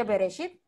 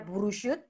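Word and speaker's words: בראשית: Kok tahu dibaca Bereshit? Kok nggak dibaca Burushut atau Barashat? Kenapa dibaca Bereshit?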